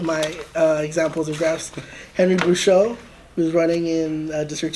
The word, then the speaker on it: Bouchot: Henry Bouchot, who's running in District 2.